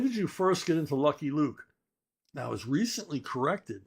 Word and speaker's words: Lucky Luke: When did you first get into Lucky Luke? Now, I was recently corrected by my good friend Jean-Francois Cavalier that it's pronounced Lukey Luke. And I just laugh at him whenever he corrects me. Lukey Luke.